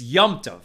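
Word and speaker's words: yontif: us a good yantef you know we often pronounce it jantif right y-o-n-t-i-f but what we're actually and some say that's the yiddish but really what we're saying is right it's yamtov meaning yom tov yomtov the holiday uh deborah but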